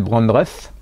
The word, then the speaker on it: Brandreth: Gilles Brandreth. Non, on dit pas Brandreth? Giles Brandreth. Voilà, comme dit le monsieur derrière. Alors, Giles Brandreth.